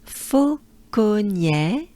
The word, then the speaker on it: Fauconnier: Fauconnier. E. So here's the E, which is not a E. It's a E. To pronounce the E, basically the air you exhale goes up your mouth towards your nose.